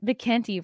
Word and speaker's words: McKenty: it is you know what does mckinty rhyme with a Horn of Plenty horn aplenty yeah I